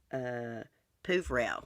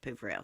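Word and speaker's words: Peuvrelle: Deputy District Attorney Christopher, I looked up his name this morning, Pouvrel, that's how you say it, Pouvrel said.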